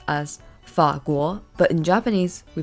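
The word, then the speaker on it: 法国: lives first is France in Chinese this is pronounced as fakul but in Japanese we pronounce this as futsukoku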